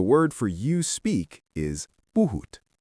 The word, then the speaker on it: puhut: The word for you speak is buut. Say it with me. Buhoot.